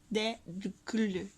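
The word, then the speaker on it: Eyjafjallajökull: – *dictating in syllables* Eyyafyadlayokyudl. Pronounce like this: *dictating in syllables* Eyyafyadlayokyudl.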